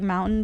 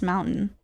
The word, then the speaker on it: mountain: Here the local accent is to drop harder letters inside words like mountain becomes mountain. Mountain. Yeah. Yeah. Mountain. But like the T is still there.